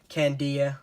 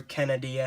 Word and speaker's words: Canadia: it resolves next up Canadia or kandia or kennedy a have you I've heard it pronounced three ways I pronounce it Canadia it's the book of